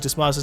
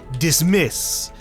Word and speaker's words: Dismas: Because I want to say it like dismiss. But it's Dismas. And so I just end up saying it as dismiss anyways. Crap, I don't know what I want to name him.